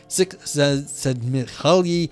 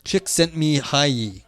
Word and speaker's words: Csikszentmihalyi: Gruz and Bueller, okay there, for example, are cited by Csikszentmihalyi as describing what came to be known as function salute, literally activity pleasure in early 20th century.